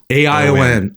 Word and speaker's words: ain: Ai a i n ion. The A is silent, but but nothing about ion is in that book.